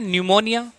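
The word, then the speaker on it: pneumonia: हम बात करें एन, वैसे तो न्यूमोनिया की जो स्पेलिंग होती है पी से स्टार्ट होती है, लेकिन एन से हमें क्या बनाना है, न्यूमोनिया।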